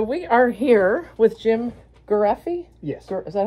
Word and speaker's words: Garreffi: all right so we are here with Jim gy yes is that how you pronounce it yes and Ann bue an and